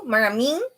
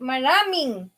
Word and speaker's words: maraming: No, maraming. It's to the intonation maraming. Maraming. It's hard in the letter I. E. Maraming. It's not maraming. Maraming.